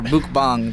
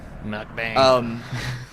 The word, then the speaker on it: mukbang: Or mukbang, that's how you're supposed to pronounce it. Everybody says mukbang, but it's mukbang. I looked it up. Mukbang.